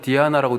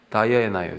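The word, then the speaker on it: Diana: 로마 신으로는 디아나라고 돼 있는데 저걸 영어 발음으로 하면 뭡니까? 다이애나예요. 다이애나.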